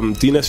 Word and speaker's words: D-Ness: And with D-Ness D-Ness is just a play on my surname.